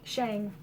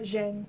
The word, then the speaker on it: Zhang: Shang. Not Zhang. Shang.